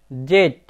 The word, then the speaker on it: Z: এক্স, ওয়াই, জেড। কিন্তু বন্ধুরা, জেড এর আমেরিকান প্রোনাউন্সিয়েশনে হবে জি।